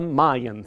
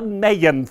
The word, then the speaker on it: Mayan: Denver person or not the newcomers think it's the Mayan theater it is the maeín theater that itself it could be named for the Maya Indians that it is the main theater in Denver pronunciation they have all